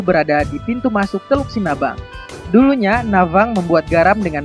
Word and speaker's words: Sinabang: Kalau diucapkan dengan logat daerah adalah Sinavang, yang berasal dari legenda Navang. Navang adalah si pembuat garam masa dulu di daerah Babang, yaitu berada di pintu masuk Teluk Sinabang.